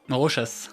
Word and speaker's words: Rochas: Donc Rochas, avec le S.